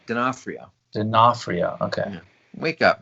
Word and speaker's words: D'Onofrio: How do you pronounce his last name? D'Onofrio.